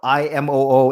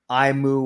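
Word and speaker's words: Imoo: way it's spelled i-m-o-o it looks like imu or imu because that's the way it's spelled in japanese it's actually imo you say every vowel in or every syllable but imo just sounds like i'm stuttering so i say and you nailed it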